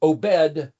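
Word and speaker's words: עבד: But you see, in Hebrew, ayin bet dalet is pronounced, well, the letters are O, B, D, obed, where we get the word obedience, Obadiah, the name of that book.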